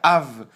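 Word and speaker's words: אב: dessa maneira e isso Nós lemos mais ou menos como AB Av ou AB alguns diriam AB mas a maneira correta de se pronunciar seria Av seria o b de uma maneira um pouco mais Branda essa palavra é bastante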